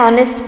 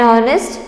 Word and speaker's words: honest: we write a an honest person an honest man so why do we write this like that because the sound of h is silent here either it is a